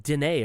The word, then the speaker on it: Denis: Oh, Denis Villeneuve. See, it's not Dennis though. It's like Dene or something. It's some weird. Anyways, he did a movie. Denis Villeneuve.